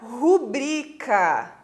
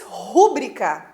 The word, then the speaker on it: rubrica: É a mesma coisa com a palavra rubrica. Todo mundo diz rúbrica, né? Põe um acento lá no U, rúbrica. Várias pessoas falam assim. Então estão cometendo um barbarismo, porque a pronúncia correta é rubrica.